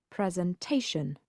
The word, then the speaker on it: presentation: The noun presentation has 4 syllables, but the stress is not on ent, but on the syllable before the final shn sound. Present and presentation.